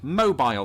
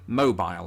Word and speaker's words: mobile: to the phone itself unless you're down in alabama where there's a city spelled exactly the same way pronounced mobile and that is why